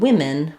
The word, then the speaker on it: women: the spelling rules more, where we do have the a for man and the for men. But in women, we don't follow that rule. We just have the I sound in that second syllable.